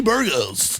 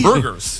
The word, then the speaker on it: Burgos: I'm Latino, so I'm going to say it correctly. I know a lot of people, Kenny Burgos. None of my teachers have said that, so I appreciate that. Kenny Burgers.